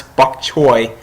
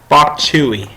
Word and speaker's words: bok choy: at least I know how to pronounce Buck Choy or as Zach calls it B chewy God a you're a